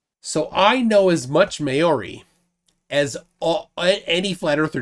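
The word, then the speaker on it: Māori: basis basically the um each vowel has a particular pronunciation right okay so a is r i always always pronounce r uh e is is o u and u is o and i'm messing you up as i said i was o and u is ooh okay so it's base basically the same uh pronunciation as japanese where you have the i-u-e-o okay yeah so it's spelled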